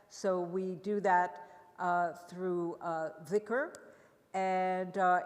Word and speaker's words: dhikr: So finally, we're going to talk about dhikr, or zikr in Indian pronunciation, the remembrance of God.